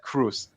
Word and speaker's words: Qreuz: original so english native speakers how they would pronounce his name yeah and actually everybody everybody said cruz yeah and this for me was then okay